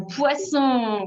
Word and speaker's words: poisson: oui bouge à un poisson oui c'est super un point pour pouget bravo attention à la prononciation ces poissons avec le censeur pas confondre avec poison avec un seul ace super un poisson